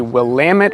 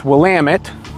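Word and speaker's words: Willamette: It's called the Wamit River. Remember how to say it because that's how you say it, people. It's not Willi. Um, it's Wamut, so get it right.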